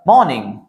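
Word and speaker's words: morning: पहले वॉवेल आया है, are should be silent here. तो यहां पे बोलते समय र का प्रोनाउंसिएशन नहीं होना चाहिए, इन द मॉर्निंग बोलना है। मॉर्निंग, मॉर्निंग र नहीं आना चाहिए, इन द मॉर्निंग।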